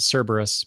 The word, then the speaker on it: Cerberus: don't know I I I usually pronounce it Cerberus but I'm probably wrong that's right that's how you do it I've just got all